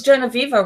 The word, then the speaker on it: Genoveva: is it I wonder is it Genoveva yeah Jenna fever ah see yeah very sweet she's really but I've never heard her speak so I wasn't exactly sure how pronounced her name I think it's Genoveva Rossi yep yeah okay that's how it smelled